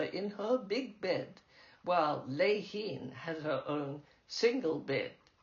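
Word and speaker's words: Lehene: My sister's Chinese derived name was spelled L E H E N E unlike its pronunciation lein.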